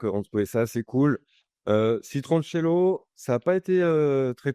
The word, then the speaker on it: Citroncello: Voilà, par contre, personne sait le prononcer, donc il y a peut-être un petit problème, marketing derrière parce qu'on entend souvent, citroncello, citronello. On a très souvent citronello, donc pour ceux qui nous écoutent, c'est citroncello Mm.